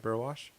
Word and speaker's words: Burwash: i should have asked i did pronounce your last name correctly right burwash you did yeah oh good good well